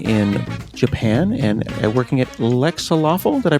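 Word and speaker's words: Lexaloffle: He created the PICO-8, living in Japan and working at Lexalawful. Did I pronounce that correctly?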